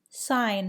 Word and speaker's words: sign: Sign has a silent G.